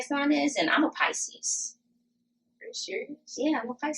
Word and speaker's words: Pisces: Now, the fact that, like, I didn't know how to pronounce Pisces until somebody was like, it's not Pisces. You said Pisces? Yeah, I said I'm a Pisces. Like Reese's Pieces?